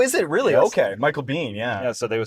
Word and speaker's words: Michael Biehn: Michael Bang. Oh, is it really? Yes. Okay, Michael Biehn.